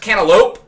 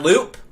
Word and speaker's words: cantaloupe: It's pronounced cantaloupe, not loop. Look at the spelling, my guy.